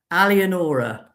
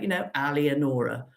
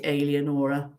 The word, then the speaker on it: Alienora: So yes, Alienora. Don't forget the name. It's only the 5 syllables, for goodness sake, Alienora. And don't say Alienora, or I may have to get nasty.